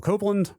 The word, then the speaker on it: Copland: of each was Apple Copeland pronounced like the composer Aaron Copland I think I was pronouncing it Copland when we talked about